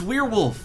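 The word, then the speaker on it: werewolf: as needed it is it's weirwolf it's weirwolf that's how you say it it's a weirwolf that's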